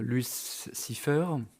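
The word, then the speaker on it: Louis Cyphre: Il est engagé par Luce Cipher, c'est comme ça que ça se prononce, tiens, incarné de façon juste effrayante par Robert fucking De Niro au top de son talent.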